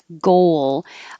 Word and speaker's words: goal: there too goal i'm it's not two syllables it's just one syllable goal but i sometimes have to remind people to round their lips for the o and then unround them for the l goal so the wool you